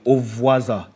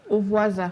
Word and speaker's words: Ovwasa: Singer Temmie, how do you pronounce Temmie's name? Ovwasa. Ovwasa. Hi. Ovwasa.